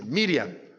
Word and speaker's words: Miriam: el nombre de maría y lo pronuncia en arameo dice miriam y entonces cuando jesús